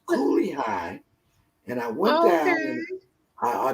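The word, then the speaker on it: Cooley High: it is kali high i'm like holly hi of course she got the name wrong but it was coolly high and i went down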